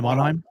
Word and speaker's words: Monheim: Is that how you pronounce his last name? Yeah, Monheim.